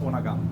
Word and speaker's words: Undergang: But being a Danish word, it is pronounced Undergang.